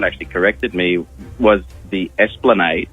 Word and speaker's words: Esplanade: corrected me, was the Esplanade. It's a street in Semaphore. Yeah. And for many years, I pronounced it Esplande.